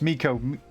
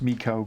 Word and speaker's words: Miko: It's Miko. You kind of got it. It's pronounced Miko.